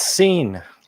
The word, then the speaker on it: Cine: I know you have the pronunciation correct. It's Cine.